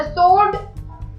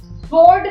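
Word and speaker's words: sword: द सोर्ड, सोर्ड नहीं बोलना है, इट्स सोर्ड, डब्ल्यू साइलेंट है।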